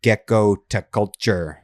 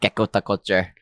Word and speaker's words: Gekkotaculture: I I I say it like her pediculture. That's kind of where I got the name. It's just her pediculture plus gecko equals gecko to culture.